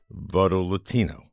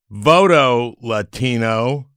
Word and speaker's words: Voto Latino: latino is my guest and that's how you pronounce it voto latino it it's it's nice it's not voto latino like some xenophobes might do voto latino it's